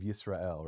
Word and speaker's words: Israel: Well, and it's weird that we pronounce it, Israel instead of Yisrael, or right?